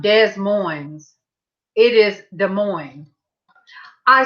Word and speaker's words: Des Moines: I said, "How do you say that state? DESMOISE?" He said, "Hey, Rebecca." "Hey, Rebecca." He didn't say that. He said, "Des Moines."